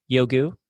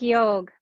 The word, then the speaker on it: Yogue: And she founded her company, Yogu. Is that how you say it? Y- Yogu? it's like Yogue, like Vogue, Yogue.